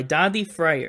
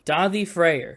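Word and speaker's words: Daði Freyr: song is a song called ten years by daddy fryer in your life how do you pronounce that name davi freyr it's icelandic he's an icelandic singer and songwriter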